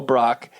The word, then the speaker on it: Brack: search rack and it's my name Brock but it's spelled out rack and you'll just find